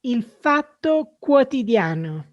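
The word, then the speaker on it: Il Fatto Quotidiano: name of this media organization can you just pronounce it for our audience out there sure it is infato quotidiano yes and you can get you go online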